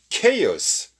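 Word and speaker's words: chaos: 의미에 대해서는 자 그다음에 kos 자 발음 조심 해 줘야 되겠죠 chk 발음이 됩니다 k 바로 물었죠 발음 적으로 조심해 줄 그런 판화가 됩니다 kos 라고 하는 것은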